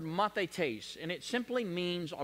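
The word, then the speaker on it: μαθηταί: In the Greek language, the word disciple, it's pronounced the word mathetes.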